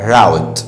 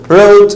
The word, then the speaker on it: route: ناخد معاهم كلمة كمان وهي كلمة route وفي ناس بتنطقها route بس انا بنطقها route ديت معناها مسار او طريق او خط سير، معناها ايه؟